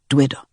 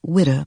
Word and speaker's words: Dwitta: Then we come into a place called Dwitta. It is called Witta by the whites, but Dwitta is the Nigerian pronunciation of the place.